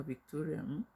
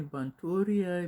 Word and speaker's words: Victoria: So my name na Victoria. Some people dey call me Bantoria, Bistoria, Bikitoria. Even one person call me sef, because dem no sabi call the name.